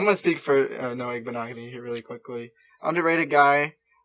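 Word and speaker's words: Igbinoghene: I will pick Noah Igbenogany.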